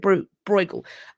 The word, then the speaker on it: Bruegel: I think I pronounce it Bruegel, behind a door.